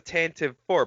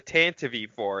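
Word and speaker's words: Tantive IV: tan to v4 i always thought it was the tantive four but now i'm hearing people call it the tantavi for and i'm very i don't know how to feel well that's all people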